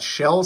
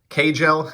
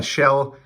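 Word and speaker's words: Kjell: for today we got shell samuelson and that's right for those of you who weren't hockey fans back in the day it is not pronounced cagel it's a shell it's a swedish name um he actually began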